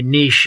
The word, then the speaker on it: niche: audience obviously my my Niche is and I say Niche because it's the right way of pronouncing it you know is musicians